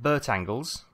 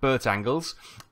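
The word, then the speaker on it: Bertangles: we are we're in Burtt angles Burtt angles I love that it's not going to be pronounced like that but we're going to call it Bert angles so Bert angles ahead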